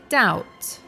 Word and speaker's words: doubt: the other one is doubt which has a silent B so it's pronounced doubt if you want to